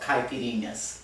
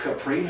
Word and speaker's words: caipirinhas: second introduce you to the marvelous wonder of caipirinhas they're not pronounced caprine oh come on you know better than that